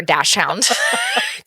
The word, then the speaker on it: dachshund: how you get 0 votes for Dachshund. Because Because the second part of the word isn't even hound, it's hund.